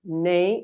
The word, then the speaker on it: neigh: It's like the beginning of neighborhood, you know? Yeah, exactly. Neigh. Mm-hmm. It's like you're going to say neighborhood or neighbor. Okay, neighbor. It's the same sound, no? Neighbor. Yeah. Neighbor, exactly the same. But you omit bor and then you have relinchar, no?